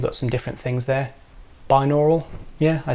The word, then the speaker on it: binaural: Binaural, yeah, I said it right.